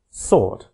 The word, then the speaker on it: sword: English pronunciation thus don't write in the word sword s-w-o-r-d because it is pronounced sort we can define phonology as the